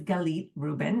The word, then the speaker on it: Galit Reuben: By the way, my name is Galit Reuben. Nice to meet you. This is how you pronounce my name if we haven't met before.